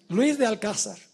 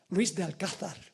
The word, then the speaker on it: Luis de Alcázar: Luis de Alcázar. Debo pronunciar como aquí. Luis de Alcázar. Pronunciar correctamente el español, ¿verdad que sí?